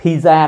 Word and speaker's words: pizza: âm S nha pizza p có âm t i p p pi dừng hơi lại chỗ chữ t nói chữ s pizza pizza đó Anh